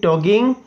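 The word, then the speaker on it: talking: वो बात कर रहा है तो टॉकिंग हो जाएगा। क्या हो जाएगा? टॉकिंग। ठीक है, इसमें L साइलेंट रहता है। ठीक है, क्या रहता है? L साइलेंट रहता है। तो ही हैज़ बीन टॉकिंग।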